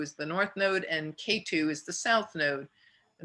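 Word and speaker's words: Ketu: is spelled r-a-h-u and k-2 is not k in the number two you know like the mountain it's a key k-e-t-u k-2 so rahu is north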